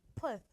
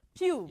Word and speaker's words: Puth: Puth, Charlie Puth, is that his? Charlie Pugh. Pew, Yeah. right. I got the surname wrong.